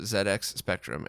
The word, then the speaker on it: ZX Spectrum: fpga recreation of the zx spectrum and i was told i have to say zed because it was never released in north america so say it like it was said where it was released i don't want to